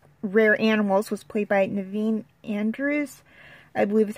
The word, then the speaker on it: Naveen: informed Strasser about rare animals, was played by Naveen Andrews, I believe is how you say his first name.